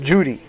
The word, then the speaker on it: Judi: It's spelled Kudi, but it's pronounced Judi.